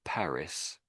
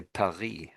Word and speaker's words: Paris: Of course it in English we say Paris but in France they say Perry, don't they? So they say it slightly different to us.